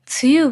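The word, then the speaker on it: 梅雨: で、梅の雨と書いて梅雨と読むんですが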